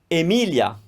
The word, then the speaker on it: Emilia: that's the name emily emilia emilia another name emma emma here the difference emilia the opening a was closed but for emma we opened it up why well because